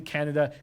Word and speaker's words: Kanata: yeah but it is kanata is just outside of Ottawa but we do pronounce it Canada could not talk Canada two different places but who cares about